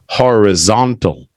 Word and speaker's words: horizontal: a little bit different this is pronounced horizontal right horizontal means side to side